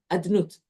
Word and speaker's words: אדנות: The Yud Kei Vav Kei is spelled Yud Kei Vav Kei, but we always pronounce it Adnut, as if it has these letters. Right? When we say Abracha, Baruch Atah Yud Kei Vav Kei, but we say Aleph Dalet Nun Yud.